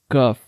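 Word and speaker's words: ك: So the next one is kaf. We pronounced qaf from the soft plate and kaf from the hard plate.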